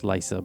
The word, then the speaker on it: Lysa: Uh, it's it's pronounced Lysa, but uh I spelled L Y Sa, you know.